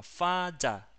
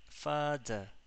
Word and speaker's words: father: La A, la primera A y la última. Fada. Fada. Termina en schwa.